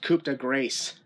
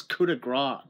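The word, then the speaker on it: Coup de Grâce: thought it was pronounced coopa Grace that actually what I thought too was that CA Grace what does that mean they're like it's Cuda gr the p is silent and they like oh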